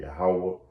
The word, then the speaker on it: Yahweh: And he didn't know the Lord name, first and foremost, how to pronounce the Lord name, Yahweh and Yahweh Shai, man.